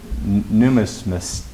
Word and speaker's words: numismatist: The correct answer, if pronounced correctly, is numismatist. N-U-M-I-S-M-A-T-I-S-T.